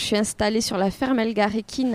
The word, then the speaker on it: Elgarekin: Oui, super, merci beaucoup de m'accueillir sur ta ferme, la ferme Elgarekin, c'est comme oui, ça qu'on dit ? Oui, c'est ça, bien prononcé.